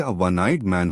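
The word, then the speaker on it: one-eyed man: वनाइड मैन में ओ होने के बावजूद आवाज व वी की है इसलिए वनाइट मैन होगा और हिमालय एक पर्वत श्रृंखला है इसलिए इसके आगे द हिमालयस लगेगा।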